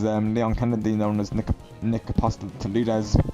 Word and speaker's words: Apostolides: Like it's like the guy who plays Leon Kennedy, known as Nick Apostolides. For the longest time I kept saying Apostolides, but no, it's actually pronounced Apostolides.